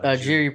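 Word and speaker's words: Jiří: I think his only loss is to fucking Jury, right? How do you say his last name, Jeff? Oh yeah, Jerry, Jiri Prochazka.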